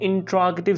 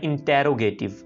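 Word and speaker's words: interrogative: अब हम देखते हैं कि इसका हम इंट्रोगेटिव सेंटेंसेस यानी सवालिया फिकरात कैसे बनाएंगे। इस लफ्ज़ को बहुत से लोग मिस प्रोनाउंस करते हैं, इंटेरोगेटिव। इट इज इंट्रोगेटिव, इंट्रोगेटिव यानी सवालिया फिकरात।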